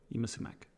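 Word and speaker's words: Yma Sumac: and listening to some Yima Sumac. She's really cool and good. She's on the soundtrack to Death Proof. And that's spelled YMA space SUMAC. That's how you spell Yima. Yima Sumac.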